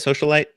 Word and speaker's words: Socialite: Socialite?